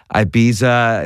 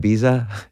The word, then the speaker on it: Ibiza: One of your songs, I Took a Pill in Ibiza. Is that how you say it? Ibiza?